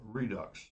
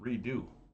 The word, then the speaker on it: Redux: So that was the 2023 Roger Waters is re not reissue issue of Dark Side of the Moon Redux. Re D-Ux I would have pronounced it redo.